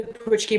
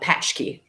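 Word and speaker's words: pączki: they fill with like I've heard it pronounced a couple ways I've heard the pushki but I've also heard it called the a patch key yeah with the CZ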